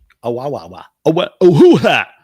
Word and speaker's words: Oahu: Oahu. Is that how you pronounce that?